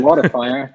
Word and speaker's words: Smartifier: it's open yet, but your newest project, what, Smartifier? Did I say it right? Smartifier.